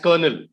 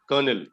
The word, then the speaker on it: colonel: captain is correct col we pronounce it as kernel colonel okay colonel that's correct